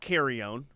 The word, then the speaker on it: Carrion: It's Carrion, not Carrion. That's right, Carrion.